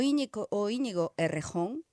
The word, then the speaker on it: Íñigo Errejón: É saber e se manifestar públicamente que o Íñigo Errejón, que Íñigo Errejón, o pronuncia española, que era o portavoz de Sumar